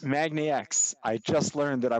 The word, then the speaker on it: MAGNIX: we're joined now by roy goncarski ceo of magnetics did i get that right roy x magnax i just learned that i was pronouncing it wrong roy it's really good to